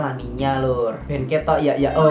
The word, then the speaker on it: La Niña: Tulisannya sih La Nina, tapi bacanya La Niña lur.